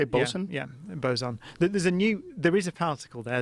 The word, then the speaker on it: boson: Yeah, boson.